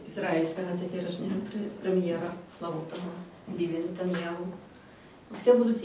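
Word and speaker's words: נתניהו: теперішнього прем'єра Славутого Біві Нетаньяху, все будуть і казати, і писати Яху на кінці. А послухайте канал RTVI, израильский, там вы николи не почуете это аху. Там гу. И пишется, и вымовляется, выключно Нетаньяху.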